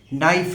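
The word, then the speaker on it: knife: তো শিক্ষক ওই মুহূর্তে বোর্ডে লিখেছিলেন কে এন আই এফই নাইফ শব্দটি ইংরেজিতে। তো আমরা সবাই জানি কে এন আই এফই নাইফ শব্দটিতে প্রথম অক্ষর নাইফের কে উচ্চারিত হয় না।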